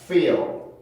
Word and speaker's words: feel: 그래서 제가 영어 발음을 하다 보면은 우리나라는 그냥 필 이렇게 편하게 발음할 수 있지만 영어 발음을 하다 보면은 소리가 필로 나는 게 아니라 feel 이런 식으로 소리가 만들어져요. 그러니까 필 소리가 아니고 마치 피처럼 소리가 만들어지죠. 여기도 마찬가지예요. 모음이 밑에 있다가 L 발음을 위해서 혀가 뜨니까 그 중간에 내가 의도하지 않은 어떤 소리가 만들어지게 되는데 그 소리가 바로 슈아 소리.